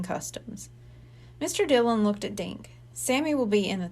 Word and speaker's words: Dink: nodded at the boy dink Sammy repeated that rhymes with thank and pink and stink making Rhymes helps Sammy